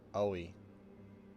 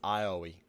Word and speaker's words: Aoi: Oi. Yeah, no. It's Ioi. Gotta pronounce all 3 vowels, A, O, and I, independently of each other.